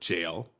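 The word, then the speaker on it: gaol: But remember, it's pronounced the same as the American word jail, J-A-I-L, regardless of the spelling difference.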